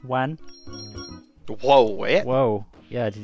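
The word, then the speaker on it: ワン: Did you know that in Japan, woof is pronounced wan?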